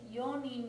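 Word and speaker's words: 四人: Yonin uses yo instead of yon.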